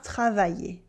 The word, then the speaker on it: travailler: La fille a sommeil, mais elle part travailler. Here we have a y sound at the end of sommeil for sleep and in the middle of travailler to work.